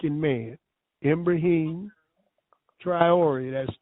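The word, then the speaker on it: Ibrahim Traoré: His name is spelled I B R A H I M M like in man. Ibrahim. Triori.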